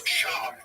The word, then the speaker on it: Schaub: It's Schaub. You have to say his name.